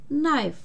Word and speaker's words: knife: Но в сочетании KN она перестает читаться. Эти две буквы вместе читаются как Н. Например, knife, нож.